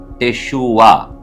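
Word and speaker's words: תשובה: எபிரேய வார்த்தை இன்றைக்கு நாம் பார்க்கக்கூடிய ஒரு எபிரேய வார்த்தை டெஷுவா டெஷுவா என்று சொன்னால் திரும்புதல் டர்ன் என்று சொல்லி பொருள்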